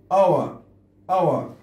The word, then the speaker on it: our: لاحظ الار بآخر الكلمة لا ننطقها، لا نقول our كأنه يعني خفيفة. our لاحظ put your لا